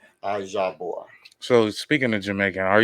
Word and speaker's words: IJAHBOR: Got to say the bor. The bore. So not bar, bore. IJAH. You know how to say the Jah Hmm. from the Jamaicans. Jah. IJAHBOR.